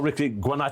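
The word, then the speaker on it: Ricci Guarnaccio: last orders at the B and I'm joined by Jordi Shaw star Ricky guano have I said that right is that Italian yeah it is parent pronunciation was was pretty much perfect yeah yeah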